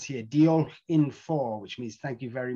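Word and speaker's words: diolch yn fawr: or thanks deal or as it says here deal in four which means thank you very much another good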